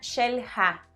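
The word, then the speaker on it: Xel-Há: The name is in Mayan, not in Spanish. Disculpe, ¿cómo se pronuncia esta palabra? Se pronuncia Xel-Ha.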